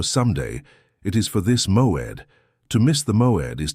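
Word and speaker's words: מועד: The Hebrew word that defines exactly what is happening to you is Moed. Pronounce it with me in a low voice. Moed.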